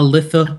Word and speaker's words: Lithe: board, followed up with a Lithe Lyricist, a Leith Lyricist, a Litha Lyricist, however you want to pronounce it. I like Leith Lyricist. I like that one. Well, Leith, that one. I believe Leith is correct.